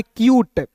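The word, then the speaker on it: cute: यहां पे सी का उच्चारण आधा क के रूप में करेंगे और यू टी ई है तो इसका उच्चारण यूट के रूप में करेंगे।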